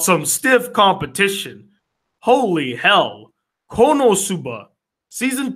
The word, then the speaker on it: Konosuba: Otsumatsu, Season 2, Little Witch Academia, Konosuba, or as people love to make fun of me because I pronounced it wrong, Konotsuba, Gamers, and Surrey Children.